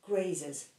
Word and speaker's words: grazes: in the verb graze, even though the verb graze ends with the letter E, we just add an S to it, but we pronounce the ES at the end.